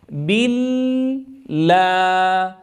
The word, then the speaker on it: بالله: لاحظوا الصوت بال إذا فتحت عند الساكن، أو أن أقول بال. تأملتم الفرق بين الصوتين؟ أعوذ بالله. أفتح الفم جيدا فتحا وسطا عند نطقي للألف، ثم أنطق بالكسرة تامة.